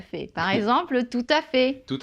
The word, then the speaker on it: tout à fait: Par exemple, tout à fait. Tout à fait. Donc là, hein, on ne prononce pas le T.